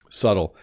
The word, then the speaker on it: subtle: very very nice gift subtle so this has a silent B if you notice you don't pronounce the be subtle refers to when